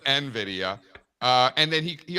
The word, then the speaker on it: Nvidia: He also He also calls it Novidea instead of Nvidia.